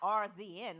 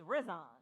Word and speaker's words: RZN: So it's not RZN like I said. It's Rizon. It's Rizon, but then it Abbreviated. went down to RZN.